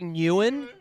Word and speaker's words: Nguyen: It's like Nguyen, NG. The G is soft. It's a soft G.